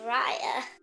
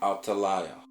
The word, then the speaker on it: Athaliah: I said Raya. Okay, well, say it right now. Raya. Who was the queen? I just forgot the words. La. It's an L. Laya? Athaliah.